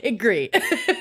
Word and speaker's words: Gris: to mispronounce this but like gris or grease or Grace whatever g a g gree yeah so see I'm wrong gree so um but this